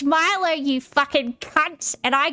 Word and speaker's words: Milo: And he was having an argument with a bunch of Australians, telling Australians that Milo is pronounced Milo because it's Asian. And everybody in chat was like, no, it's Milo.